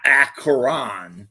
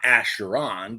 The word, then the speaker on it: Acheron: So it's Acheron, not Acheron.